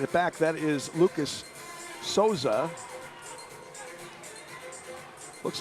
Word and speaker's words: Sosa: ways I've heard Susa I've heard Sosa what is it and he goes it's soza and I said like a z he said yeah so there it is